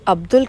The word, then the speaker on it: Abdul: अब जो अब्दुल है उसको अब्दुल ही बोलना है आपने.